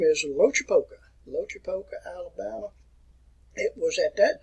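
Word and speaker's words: Loachapoka: And he was born in the year 1840, 16th November, and I learned how to pronounce his name right outside of Auburn. And the name is Lochapoka, Alabama.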